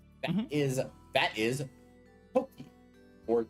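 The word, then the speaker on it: 時: Yep, so that is, so in this case it's pronounced Toki, and it means time. Toki.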